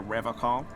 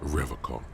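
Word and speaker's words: Revachol: But someone has to stay strong for Revocol. He pronounces Revocol with a hard K, unlike other people. You said Revocol? I like to pronounce it the hard way. The old way. Ugh, the Vespertine way.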